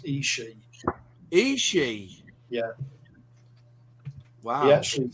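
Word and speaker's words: ESCI: Because I know it as Esky. Right. You call it something else. I used to call it Isai, but I had an Italian sub me, and he told me it's pronounced Ishi.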